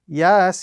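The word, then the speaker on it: يس: So the correct pronunciation of this particular example is Yasin. Again, with a larger portion of the prolongation on the letter Sin because of the mud which appears on top of it.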